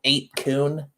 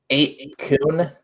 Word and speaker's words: 8kun: 8kun. That's like COON. No, no, I thought it was that too. It's KUN, like Japanese pronunciation.